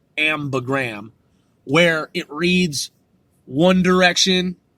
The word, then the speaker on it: ambigram: incorporated an ambigram, and I used to call it the ambiogram, but it's pronounced ambigram, where it reads one direction and then it reads the same the other direction.